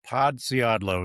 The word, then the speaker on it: Podsiadlo: Podiadlo is the way we pronounce it now. Four easy syllables and it's it's on